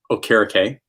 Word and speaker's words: Okereke: sorry, not Okereke, it's Okereke. Apologies, Bobby, even though you changed, you told everyone way too late on the correct pronunciation of your name, and we're all just stuck in Okereke.